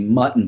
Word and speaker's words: muntin: the mutton bar sizes on your existing and how they're configured as well.